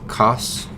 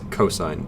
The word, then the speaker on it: cosine: for three letters yep don't ever pronounce this as coughs please this is cosine even if you see these three letters it's still cosine and finally guess what